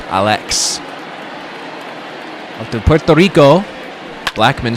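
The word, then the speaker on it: Álex: It's actually pronounced Alex. An accent over the A, so not Alex. Alex.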